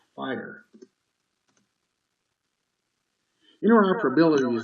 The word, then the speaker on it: FHIR: families fast healthcare interoperability resources pronounced fire in order for ability